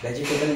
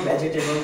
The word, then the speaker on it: vegetable: Vegetable लेकर आ रहे हैं आप. ठीक है, that is not called vegetable. The right pronunciation of this word is vegetable.